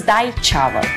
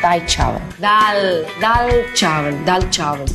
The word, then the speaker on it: dal chawal: The next one is dai chawal. Dal chawal. It's the best pronunciation.